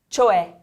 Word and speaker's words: cioè: This one has an accent on the last E, so we're going to say cioè. Cioè.